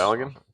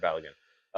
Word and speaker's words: Balogun: Balogun? Balogun.